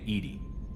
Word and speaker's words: EDI: ก็คอยเตือนผม Why are you named Edie? EDI is the phonetic pronunciation of EDI.